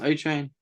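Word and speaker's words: Achane: across from them uh is it pronounced a chain yes uh or uh I've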